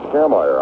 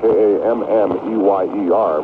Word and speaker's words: Kammeyer: Well, they're pronouncing him on the intercom here as Kammeyer.